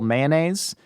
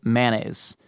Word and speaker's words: mayonnaise: It's split so evenly between a 3-syllable mayonnaise, and a 2-syllable mayonnaise.